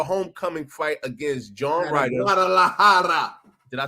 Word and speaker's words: Guadalajara: Guadalajara.